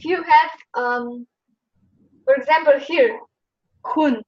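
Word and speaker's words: 混: have for example here, Hun. It's not just Hun. Those two are a little bit combined together, so it's more like Hun. It's like you put a in between. Hun. Yes. Hun.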